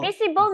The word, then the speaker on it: visible: Well, the V is thick. V, so visible. V. Visible. Yeah. And then? So your lower lips must touch your teeth.